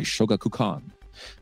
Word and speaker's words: Shogakukan: in November of '96 and was published by Shogakukan.